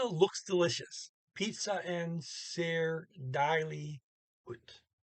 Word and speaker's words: deilig: Pizza and ser deilig ut. And they got an IG, by the way, at the end of deilig. And usually don't pronounce those G's.